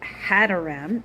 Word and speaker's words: Hadoram: Um in Hebrew, it's Hadoram, H A D A like Hador. Hadoram.